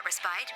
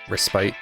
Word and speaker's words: respite: it along with that respite aronian everywhere are turning to their true Autumn passions food and sports I think that's pronounced respit but you know respite I guess wrist bite sounds doesn't sound all of